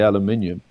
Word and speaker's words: aluminium: work out could a, and I'll give it the American pronunciation, I mean, we Brits would say aluminium, right? An aluminum hulled passenger jet